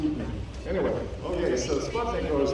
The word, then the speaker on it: Sputnik: Okay, because that's what the Russians pronounce it, Sputnik.